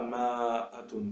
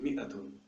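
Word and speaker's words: مائة: C'est-à-dire qu'on dit mi'a, on ne dit pas ma'atun par exemple. Si on le lisait comme ça, peut-être on dirait ma'atun, mais c'est pas ça du tout. C'est mi'atun. Donc il s'écrit comme ça, c'est une faute de l'écrire autrement, mais il ne se prononce pas comme tel.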